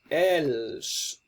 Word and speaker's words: elles: We're going to have elles, pronounced elle.